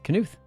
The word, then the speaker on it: Knuth: The K is pronounced. Really? That sounds weird. Why would you pronounce the K?